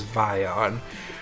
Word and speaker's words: Vion: I finally figured out how to pronounce their name, and it only took well past when I ended my stream. Their name is Vion.